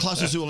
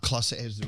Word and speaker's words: Clase Azul: you have Class Azul in there? I think it's empty, though. It's empty. It's Isn't empty. it pronounced Class Azul, not Clase Azul?